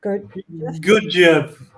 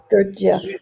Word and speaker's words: Gurdjieff: on your website, and I want to pronounce their names. Gurdjieff? Gurdjieff. Gurdjieff.